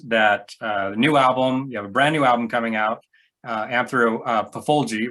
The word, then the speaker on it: Anthropophagy: you have a brand new album coming out, Anthropophagy, right? Is that how I pronounce that? Anthropophagy. Anthropophagy, okay.